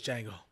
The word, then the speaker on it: Django: It's Django. The D is silent.